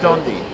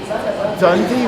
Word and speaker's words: Donde: Donde. Dundee, like as in... No, just like with an O.